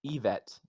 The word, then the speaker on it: Yvette: Is it like Yvette or something? I don't know. E. You just say E. Yvette.